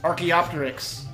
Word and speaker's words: Archaeopteryx: Archaeopteryx. Yeah, see? There's another one. Wow. Is that how it's pronounced? No. How is it pronounced? Archaeopteryx.